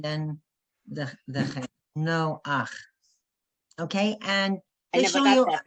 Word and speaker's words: Noach: You say no, and then you go to the vowel first, and then the chet. No ach.